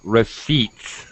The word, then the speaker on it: receipt: Yeah, Thiago, it's a long e receipt.